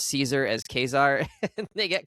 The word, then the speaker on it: Caesar: And she's like, well, you're not really German, so I'm not sure why we're going with Kaiser here, but sure. They don't do the soft C. No soft C for them.